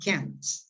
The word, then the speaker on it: can: Can has a short vowel. La vocal que está ahí es corta. Eso significa que es muy suave.